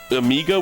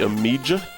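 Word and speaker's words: Amiga: Amigga with a hard G. Amijah.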